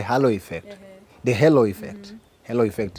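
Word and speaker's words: halo effect: effect the hello effect hello effect is the the correct pronunciation this is a it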